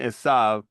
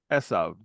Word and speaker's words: Esav: Ele Benai Ada Eshet Eshav Esav. Oh, the accents on the first syllable there. Yeah, Esav. This is why I said Esav and not Esau.